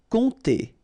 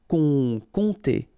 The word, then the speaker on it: compter: Compter. Remember, you don't pronounce the P here, and then this OM together will produce the nasal on, compter, compter.